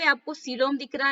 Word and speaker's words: coelom: इसको हम हिंदी में क्या प्रोनाउंस करेंगे? सीलोम।